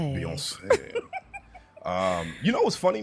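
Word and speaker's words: Beyoncé: name really beyonce yeah you have to say like a french person beyonce um you know what's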